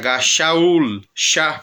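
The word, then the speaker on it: Shaul: mas é o mesmo a mesma pronúncia um som de x e vai se escreve com ch shaur shaur no capítulo 3 da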